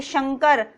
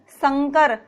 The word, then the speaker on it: शंकर: देखिए, शंकर, संकर, दोनों में कितना अंतर आ रहा है। तो जो हमारा शुद्ध उच्चारण है वो क्या है, हमारा शंकर। शंकर में क्या हो रही है, हमारी जीवा तालु से टकरा रही है।